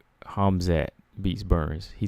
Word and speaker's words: Hamzat: Like BJ said, it's pronounced Hamzat.